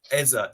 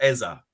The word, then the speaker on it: Eze: It was never Eze. Eza. Eza. Why did Eze. why does our stadium announcer call it Eze then? And everyone else I ever speak to, it's Eze. It's Eze, and not Eza.